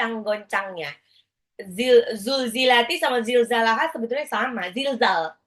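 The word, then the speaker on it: زُلْزِلَتِ: lidah seperti mau digigit sedangkan ketika mengucapkan zulzilati zulzilati sama zilzal itu pakai z z itu lebih cenderung ke Z itu lebih cenderung kepada z z di alfabet kita ya Jadi bukan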